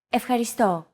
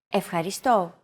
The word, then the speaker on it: Ευχαριστώ: Do you remember this mark here? We talked about it in lesson 2. It's the accent mark, and it indicates that this syllable is stressed.